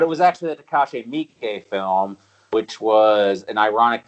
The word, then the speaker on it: Miike: Am I pronouncing that wrong, by the way? I thought it was Miike. No, it's Miike.